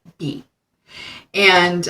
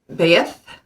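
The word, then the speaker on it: Beith: um pronunciation is like Beth but that's not how it's pronounced be T is how it's spelled that's how I would mentally pronounce it but how it's pronounced is ba like b a y or be and its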